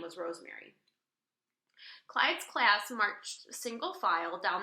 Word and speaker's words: Clyde: "It rhymes with slide, and that's what you have to do. Slide the tray along the counter, okay? Clyde, slide," she chuckled. "Okay," said Clyde. Clyde took his tray.